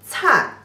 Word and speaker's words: 灿: But if you put them as one single character, the pronunciation 吃安, the fourth tone 灿, 吃安灿,灿.